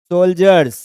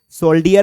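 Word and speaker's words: soldier: होता है group of सोल्जर हमारे जो गांव के मित्र होते हैं वह इसे सोल्डर पढ़ते हैं क्या पढ़ने हैं पढ़ना क्या चाहिए इसमें आप लोगों की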